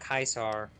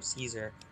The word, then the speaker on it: Caesar: Caesar in Latin is pronounced Kaisar, but everyone else calls him Caesar. So the only people who call him Kaisar are like legionaries.